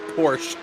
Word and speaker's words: Porsche: I like he say in America we pronounce it Porsche like Bush beer that's pretty funny little